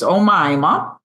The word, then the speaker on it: Omima: And I mispronounced your name in the last buddy episode cuz I hadn't met you yet, but I know her name is Omima.